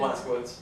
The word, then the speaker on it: Blazkowicz: Blazkowicz.